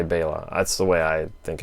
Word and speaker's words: Bela: josephine hutchinson bella lugosi actually it's bela lugosi according to bayla somebody brian bayla something who follows us on yeah facebook pronouncing things wrong he didn't rick did he likes to hear bayla instead of bella but it is bayla it is and it